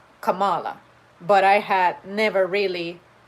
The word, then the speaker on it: Kamala: those instances in which someone just says kamala that could have been another possibility given that there is another syllable but it turns out that it's kamala and i immediately associated it with the name pamela you could also say pamala